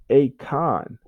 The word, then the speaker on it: Akon: So when you see the letter A, sometimes it's ah, like in apple, and sometimes it's A, like in acorn, or the singer Akon, the Senegalese singer Akon. Okay, so his name is spelled Akon.